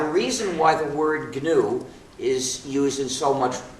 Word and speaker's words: GNU: reason why the word GNU is used in so much wordplay is according to the dictionary the g is silent and it's pronounced new so anytime you wanted